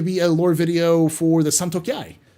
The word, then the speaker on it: Santokiai: And yeah, there's also going to be a lore video for the Santokiai. The Santokiai. That's how you say it.